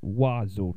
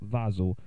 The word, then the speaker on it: Wazzle: That's how you pronounce it. Wazzle, not Vazzle.